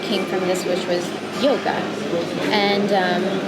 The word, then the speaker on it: yog: And then we have also this path also that came from this, which was yoga. And yog really being the way that we pronounce it, yog sounds like yoke, Y-O-K-E, meaning unity and union.